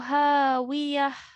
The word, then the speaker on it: هاوية: Okay, this ta al marbuta becomes a ha sakin. فأمه هاوية.